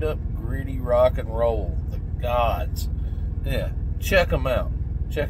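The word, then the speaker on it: Godz: The Gods, and it's spelled G-O-D-Z. Z at the end instead of S.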